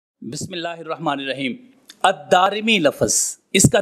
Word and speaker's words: الدارمی: اس کے بعد الف ہے، پھر را کے نیچے زیر اور پھر میم کے نیچے زیر ہے۔ الدارمی۔ اب یہ جو میں